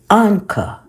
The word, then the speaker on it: Ankh: We also have the symbol Anka, which is spelled ANKH.